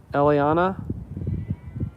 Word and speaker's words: Eliana: I guess I'm saying her Eliana. That's how you say it.